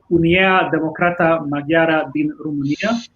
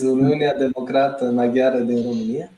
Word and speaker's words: Uniunea Democrată Maghiară din România: Narcis and Emilian, please correct me if I'm pronouncing it wrong, but Unia Democrata Maghiara din România, or in Hungarian, Romaniai Magyarok Democratici. That is correct. It's Uniunea Democrată Maghiară din România.